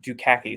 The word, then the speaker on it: Dukakis: doesn't look like it it's built like phonetically why do caucus yeah i know it's a great name yeah yeah it's like do khaki so i'm awesome when